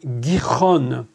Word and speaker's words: Gihon: Le nom du second fleuve est Gihon. Je prononce en hébreu.